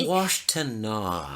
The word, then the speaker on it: Washtenaw: It's Washtenaw. Gosh, I know. I say things phonetically.